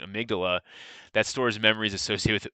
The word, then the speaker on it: amygdala: so the um dolla which i pronounced that wrong amygdala excuse me please and i just butchered that i don't know what i was thinking amygdala that stores memories associated